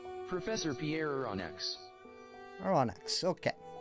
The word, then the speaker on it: Aronnax: Aronnax, okay. According to the weird computer voice, that is how you pronounce that. Aronnax.